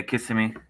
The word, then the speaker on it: Kissimmee: Yeah, Kissimmee.